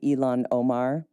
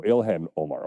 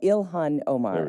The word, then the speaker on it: Ilhan Omar: Um there is a resurfaced clip of Elon representative Elon Omar. Uh a member of the progressive known as the squad as we call them. Oh, Ilhan Omar.